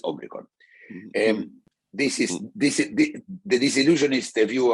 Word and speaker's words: Omicron: So we went to a word that it's very hard for everybody to pronounce, which is a soft O in Greek. It's not like the O, the omega. It's Omicron.